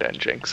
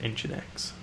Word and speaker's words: nginx: retrain myself though because I keep calling it n Jinx and I just can't stop for some reason I went to the Wikipedia page to make sure that my pronunciation was correct and the uh the pedants who edit Wikipedia have confirmed that it is in fact engine X very well then I've